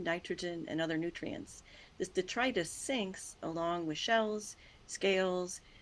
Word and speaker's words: detritus: The sinking detritus. That's how you say that word. All of us had to learn how to pronounce that word, detritus.